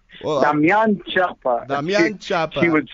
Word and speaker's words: Damian Chapa: She would be so proud of the way you said my name, because you said it right. Well, Damian Chapa.